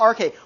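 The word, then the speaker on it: arche: it's a Greek word starts with a and rhymes with park' yes Cameron okay yeah good right so they're all like pointing towards some RK 1 RK a single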